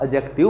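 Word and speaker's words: adjective: तो ऐसे ही मैं आपको बताने की कोशिश कर रहा हूं कि ए और जे के बीच में जब डी का यूज करते हैं तो डी का यूज साइलेंट हो जाता है। क्या हो जाता है, साइलेंट हो जाता है। और ये साइलेंट हो जाएगा तो क्या बोले जाएंगे, ये जैसे एजेंट बोला जाएगा, ये आपका एडजस्ट बोला जाएगा, और ये आपका एडजेक्टिव बोला जाएगा।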